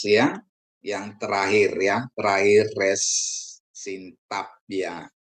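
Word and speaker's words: ריש: Yang terakhir ya, terakhir res sintap ya. Res itu pengucapan seperti Anda melafalkan R atau untuk kata rasa ya.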